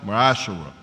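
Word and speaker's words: מעשר: It means a tenth in Hebrew, and it's pronounced Ma'ashara.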